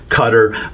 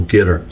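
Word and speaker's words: Qatar: it he says well you pronounce it like guitar like the instrument a guitar uh with the accent on the first syllable gter so that's there you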